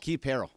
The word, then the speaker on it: Perrell: Keith Perrell. Rhymes with Pete Carroll.